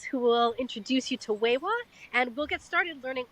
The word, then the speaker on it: Wai Wah: an episode with I just learned the correct pronunciation of her name is wewa and I'm sure we're even going to hear